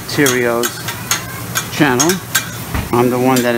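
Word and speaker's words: Theriot: live stream show on youtube on ronald j tyrio's channel i'm the one that invented fandango friday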